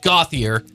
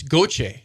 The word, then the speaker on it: Gauthier: So they said, well, in Canada, it's Gauthier. It's French-Canadian. I'm like, man, that sounds awesome, right? So as a 15-year-old, I'm like, okay, let's go with Gauthier, because now when number